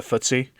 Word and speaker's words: FTSE: They call theirs the FTSE. It's FTSE. So that's how I pronounce it.